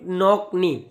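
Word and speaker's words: knock knee: बीमारी को बोलते हैं नॉक नी। कई बार नॉक नी भी लिखा होता है, नॉक नी, क्या बोलते हैं, नॉक नी, के साइलेंट होता है बेटा इसमें।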